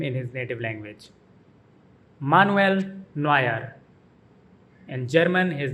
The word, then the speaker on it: Manuel Neuer: In German, his name is pronounced Manuel Neuer. Manuel Neuer. The emphasis is on the middle syllable in his first name, Nu, Manuel, and Noy in Neuer. Manuel Neuer.